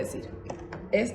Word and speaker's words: Seuss: se pronuncia este nombre se escribe s e u s s en español se lee Zeus pero en realidad Este es un nombre alemán se debería de pronunciar sois pero en Estados Unidos